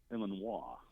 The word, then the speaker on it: Illinois: Can you possibly give us the correct pronunciation of the state that Chicago was in? And he goes, well, that's simple. That's Illinois.